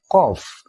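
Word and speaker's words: قاف: dua di atas namanya Kof dia mirip huruf q dan k dalam bahasa Indonesia tapi dia cenderung mirip huruf q ko Ki Ku perhatikan saat dikasih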